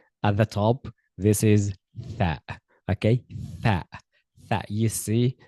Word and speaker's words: ث: You see, at the top, this is tha. Okay, tha. Tha. You see, it's very, very important to pronounce a tha clearly. Your tongue, the tip of your tongue goes between the teeth, touches the upper teeth.